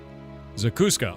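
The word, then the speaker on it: zacuscă: Zakuska? Pronounce. How do you pronounce that? Let me see this. God, I don't want AI mode. Eat shit. Zakuska. Okay, I actually pronounced it correctly.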